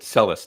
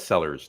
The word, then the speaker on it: Celis: at a certain age he said CIS not sellers not Peter Sellers no no not the